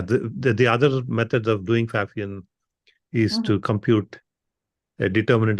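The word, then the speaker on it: Pfaffian: exist are apparently called fafan I don't know if I'm pronouncing that right but it has a p which I assume is silent yeah yeah it is a fafan and Mina and I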